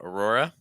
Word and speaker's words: Aurora: you see it um Aurora watch out for those RS and not let them take over so it's not Aurora